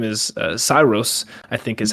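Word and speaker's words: Saeros: His name is Cyrus, I think is how you say it. S A E R O S. Cyrus.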